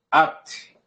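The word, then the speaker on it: אַתְּ: AT, at, a pronúncia é at, tá?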